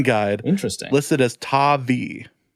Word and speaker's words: Tavai: The 2019 NFL Draft pronunciation guide. Interesting. Listed as Tavai. Tavai.